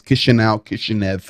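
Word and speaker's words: Chișinău: Moldova in Chisinau, which is a very large city, it looks like it's pronounced multiple ways. Chisinau.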